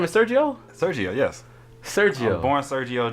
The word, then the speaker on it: Sergio: Now, I did see on one of your songs, your full name is Sergio?